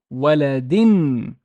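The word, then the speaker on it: ولدٍ: And I would pronounce this as darsin, darsin, talibin, waladin.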